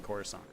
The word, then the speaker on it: Coruscant: The year that I slew 2 hordes of barbarians that were flanking Coruscant. You'll also note that I use the polite, correct term, Coruscant, not Coruscant, which only jerks say it like Coruscant.